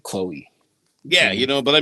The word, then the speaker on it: Chloe: you say it like Chloe. Yeah, you know, but I mean like you got to see upper Midwest they start pronouncing it Cloe, you know, that's just that that's when it's not as cool.